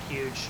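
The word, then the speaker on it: HUUGE: expect vectors is at huge it's actually just called huge but it's spelled h-u-u-g-e so that's that's kind of funny um the dme will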